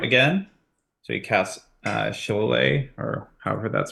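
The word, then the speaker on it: Shillelagh: begins to sprout again so he casts uh sholay or however that's pronounced sheleighly thank you I always forget and uh and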